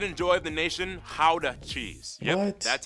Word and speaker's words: Gouda: And the pride and joy of the nation, Gouda cheese. Yep, What? that's how you pronounce it, guys.